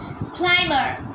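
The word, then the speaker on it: climber: সি এম উচ্চারণ হবে কিন্তু সি ও এমবি উচ্চারণ হবে না অর্থাৎ চিরনি ক্লাইমার ক্লাইমার সি এল আই এমবি আর ক্লাইমার অর্থাৎ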